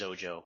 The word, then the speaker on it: Xojo: and it is pronounced Oh Joe almost as if it started with a Z at least for English speakers so we pronounce it as Oh Joe but I we are